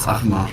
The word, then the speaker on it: Achmer: Yeah, it's kind of hard to pronounce. It's Achma, but Achma.